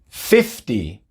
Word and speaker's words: sixty: sobre la primera sílaba pero como la letra que le precede a la t es una c una consonante pronunciamos la t normal sixty fifty el énfasis está